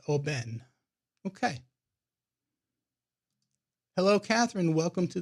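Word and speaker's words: Oban: that a 14 year old scotch and it's pronounced Oben okay hello Catherine welcome to the screen and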